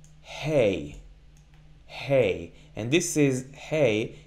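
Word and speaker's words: ה: kamat or kamat the the difference is when we pronounce hey we exhale a bit more we get some more air to come out of our throats as opposed to ALF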